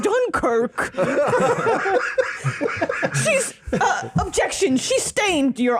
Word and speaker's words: Dunkirk: I haven't been felt this much upriver since we've been up Dun Creek. It's pronounced Dunkirk.